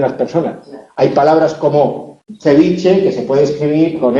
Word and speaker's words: ceviche: pronunciación, que es que yo pronuncio ceviche situando la lengua detrás de los incisivos superiores, en lugar de situar la lengua sobre los alveolos que están encima. No digo ceviche, como dicen en Lima, digo ceviche.